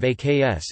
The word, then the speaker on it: ask: Common features of the phonology include non-rhoticity, dropping the R sound at the end of syllables, the metathetic use of AKS instead of ASK, simplification of diphthongs, e.g.,